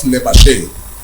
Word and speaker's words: Lebashe: LE of Lebashe comes from the LE of legacy. BA, or if you pronounce it Ba, like me, comes from the BA of balance. And SHE comes from the SHE in sheet, the one with two E's.